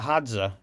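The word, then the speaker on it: Hadza: options around food by thinking more like a hza did I pronounce that right by the way yeah you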